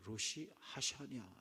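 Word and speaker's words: ראש השנה: 이 신년 나팔절을 히브리어로 로시 하샤냐라고 이렇게 발음하기가 좀 어렵죠. 로시 하샤냐 이렇게.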